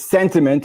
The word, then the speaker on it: Santiment: It's Santiment, and it's a sentiment company. You got it, like sentiment. They measure sentiment, but they spell it Santiment.